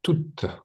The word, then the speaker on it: toute: Et il sait ici quelle phrase se prononce toute.